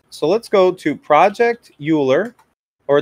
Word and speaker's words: Euler: So let's go to Project Euler, or it's actually pronounced Euler. Project Euler, that's how you pronounce his name.